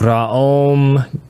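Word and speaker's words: Raom: One must accentuate the vowel O. So it's spelled R A O M G A O M. These are three words. ra and m and then ga and then again actually it would sound more like ram go.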